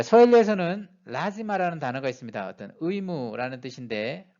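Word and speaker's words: lazima: 이 단어는 예외적으로 뒤에서 두 번째 음절이 아닌 뒤에서 세 번째 음절 라의 강세가 옵니다. 그래서 라지마가 됩니다. 라지마가 아니고 라지마로 발음해야 됩니다.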